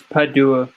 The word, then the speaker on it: Padua: Anthony of Padua. That's how you pronounce it. He was one of the most significant Portuguese saints. It's Padua, but you got it almost right.